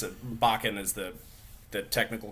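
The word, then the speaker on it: bokken: the the the we've been calling it a boken but it's a bakan is the the technical correct pronunciation the wooden training sword that you can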